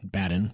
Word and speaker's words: Badin: was probably like badal but we're americans we pronounce it baden we checked with the notre dame grad he was born in orleans france on july 17 1768.